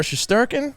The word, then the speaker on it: Shesterkin: And also a goaltender over on the New York Rangers that made it, Igor Shesterkin. He got in. That's how you pronounce it.